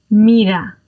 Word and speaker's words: mira: Now, again, if you imagine that there is a double T sound in there as a New Yorker, and you're thinking of the word bottle, then that bottle, you could replace that in for your single R.